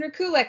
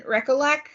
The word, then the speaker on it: Rekulak: I said Jason's name wrong when I was in my... I just finished this book, and I cried. And I was basically like, damn you, Jason. And I didn't say his name right. And then I found a post later where he was like, hi, I'm Jason Rekulik. And I was like, oh, shit. I called him Jason Rekulek.